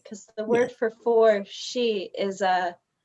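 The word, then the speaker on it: し: the word for four she is uh the same pronunciation as the character that they use for death so you know in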